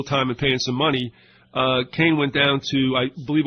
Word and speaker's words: Kahn: He pronounces it Kane, it's K-A-H-N.